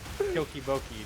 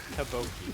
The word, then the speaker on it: tteokbokki: There's no Chokiboki thing. It's Taboki. The Chokiboki. Like, I don't even know where you got. I don't even know where you got. You got like 2 extra syllables out of there.